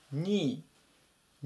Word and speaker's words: knee: 最初の K は発音せずに、あとこの部分でニーっていうふうに読みます。